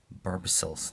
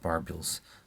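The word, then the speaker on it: barbicels: me mount the wings these barbie cells not barbells i think barbie cells is the right pronunciation are going to hide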